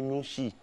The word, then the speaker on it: Nouchi: Avant, le Noussi, quand on dit Noussi, c'est pas Noussi, mais on dit Nouchi. Nouchi, oui. Voilà, non, c'est pas Nouchi, on dit Nouchi. Nouchi. Voilà, c'est la bonne prononciation.